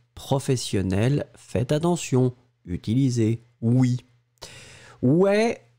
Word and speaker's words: ouais: Ouais, on va l'écrire. O-U-A-I-S. Ouais, ouais, ouais, c'est comme ça qu'on le prononce.